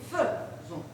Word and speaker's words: faisons: Mais attention, nous fait, Zon, prononcez, faisons, vous faites, te, non pas faisons, faisez plutôt, et ils font.